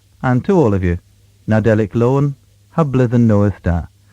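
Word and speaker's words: Nadelik: Cornish so here we go it's pronounced and it's spelled n-a-d-e-l-i-k nadelic meaning Christmas or Nativity lowen l-o-w-e-n meaning happy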